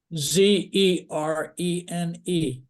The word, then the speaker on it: Zerene: It's called Zerine. All right. And your audio is a little muffled, Tony. Can you spell that for us? Zerene. Verene. Z as in Zorro. Z as in Zorro. Zerene.